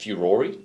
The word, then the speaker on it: furore: So the way furor is actually pronounced furore in like Italian, and so Furore.